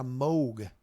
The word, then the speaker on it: Moog: Yeah, Moog. That's how you pronounce that if you're talking about the guy who invented the synthesizer.